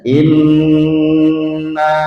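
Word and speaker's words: إنّا: Nun tasydid dengungkan. Lalu naknya yang bertanda alis panjangkan 4 atau 5 harokat, bukan 6 harokat.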